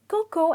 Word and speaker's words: cocoa: it cocoa because the pronunciation is coco and the "a" is silent.